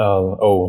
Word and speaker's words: Ou: is it oh ow how do you say your name uh oh like the letter o and oh yeah